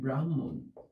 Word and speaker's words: ব্রাহ্মণ: তোমরা বুঝতে পারছো এবং এইটার উচ্চারণ হবে ব্রাহ্মণ এইভাবে আমরা এটা উচ্চারণ করব সুতরাং এইখানে যেহেতু হ